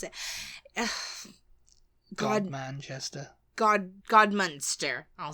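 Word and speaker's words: Godmanchester: it before but I don't remember how to pronounce it God Manchester God God monster I'll say like monster cheese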